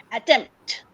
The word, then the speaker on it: attempt: Attempt. At is very soft, while tempt has a lot of consonants that really get stuck in your mouth.